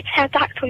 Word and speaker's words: pterodactyl: Why can't you hear a pterodactyl using the bathroom? I don't know. Because the P is silent.